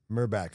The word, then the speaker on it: Merback: Merback, like a Merback. meerkat. Well, not a I think it's meerkat, like a meerkat. meerkat. Oh right? yeah. Well, Merback. I mispronounced Merback. meerkat. Like Meerkat. Think mer, Man. M-U-R. Like merkin. Merman. Yeah, Like a merman.